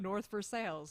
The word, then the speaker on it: North Versailles: around here what about north versailles listen i'm going to have my i've never heard that one oh yeah oh yeah it's spelled it's spelled like versailles but it's north for sales don't let me do